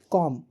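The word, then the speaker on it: comb: कॉम read it again. कॉम कॉम तो सी ओ एम पढ़ते हैं हम लोग। बी नहीं पढ़ते हैं। तो बी यहां पर साइलेंट है।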